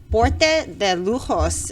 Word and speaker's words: Porte de Lujos: you definitely want to check out we got porte de lujos is that right did i say it right